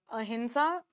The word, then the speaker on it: अहिंसा: अच्छा अहिंसा प्रोनाउंसिएशन है। नेज़ल साउंड आता है। लेकिन लिखते एम से हैं।